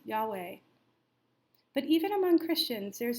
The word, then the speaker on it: Yahweh: the four Hebrew letters transliterated as yhw H which many Christians pronounce Yahweh but even among Christians there's an awareness of the limitations of language for God is concerned st.